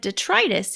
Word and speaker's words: detritus: Is it detritus? Well, I looked it up, and it said detritus. It said with a long I.